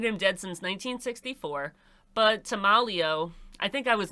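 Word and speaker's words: Tameleo: dead since 1964 but to malio I think I was mispronouncing that before his name is tomalio I think that's how it's pronounced I was mispronouncing it saying tamaleo it's timalio but tamalio wouldn't let him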